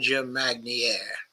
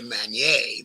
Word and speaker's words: Magnier: why with a li mager or uh actually with Elijah maner because I should give that pronunciation a French pronunciation and this video is